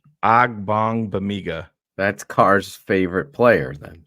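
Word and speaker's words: Ogbongbemiga: a good game B it's got bong in the middle of the name so that's the the AG bong Bigga that's Carr's favorite player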